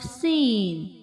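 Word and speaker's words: سين: Please don't forget to produce whistle sound in this letter.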